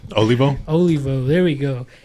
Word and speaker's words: Olivo: the episode good you have to excuse my mispronunciation of your last name so what is your last name olivo olivo there we go it's been a while